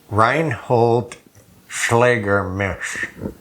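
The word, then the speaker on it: Reinhold Schlegelmilch: This is signed, and it's a tough pronunciation what that RS stands for. Some of you know, but it's Reinhold Schlägermisch. Reinhold Schlägermisch.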